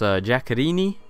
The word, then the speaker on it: Giaccherini: And then our front three, we have this guy who I think his name is pronounced Giaccherini. I'm pretty sure that's correct.